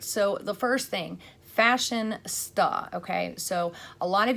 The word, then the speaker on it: Fashionsta: If I try to say something very quickly, especially like a word like Fashionsta, if I don't really pronounce it, it comes out Fashionista, okay? So that's my fault, but it's Fashionsta.